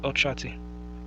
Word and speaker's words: Olkwati: Recently, I have remembered the name Olkwati, pronounced Ochati. I simply pictured an old man.